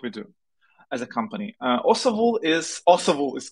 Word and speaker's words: Osavul: of international what we do as a company osahul is also is correct like pronunciation it's a term from Ukraine history it